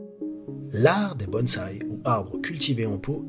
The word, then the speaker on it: bonsaï: Si vous essayez sur Google Traduction en anglais, italien, espagnol, arabe ou n'importe quelle autre langue, vous entendrez toujours la bonne prononciation japonaise bonsaï.